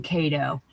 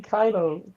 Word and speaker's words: Kaido: And I'm gonna have you do a promo on Ko.